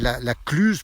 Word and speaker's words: La Clusaz: l'histoire et d'ici ou le z était une prononciation non pas une lettre donc on l'a on ne l'écrit on ne l'a prononçait pas par exemple la clusaz pour dire la clusaz